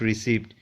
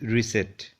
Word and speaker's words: receipt: We say receipt. Actually, it's not received. It is reset, reset, reset, reset.